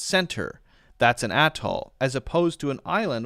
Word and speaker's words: atoll: think are pronounced a certain way aren't actually pronounced that way. Atoll.